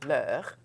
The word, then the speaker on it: leurs: Leur, leur, leur. Now you realize I said leur. I didn't pronounce the final S. I will pronounce that final S only if I can link it with a vowel.